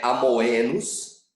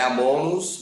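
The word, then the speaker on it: locus amoenus: Repare, não é amoenos, né? E não é amonos, não é amenos, é amoenos. Você pronuncia o começo do O, termina o O com a letra E, amenos.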